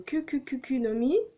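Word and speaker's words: Kuku Kuku no Mi: Ça va être dur à prononcer parce que vous allez me dire c'est quoi cette prononciation médiocre. Eh ben écoutez, c'est le Kukukukunomi.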